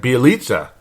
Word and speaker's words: Bjelica: Now that I could finally say it right, Bjelica. 22 minutes in the game. The whole fourth quarter, the guy played like shit. Pardon my French, because I try to keep this a family show, but Bjelica, I couldn't bear to watch.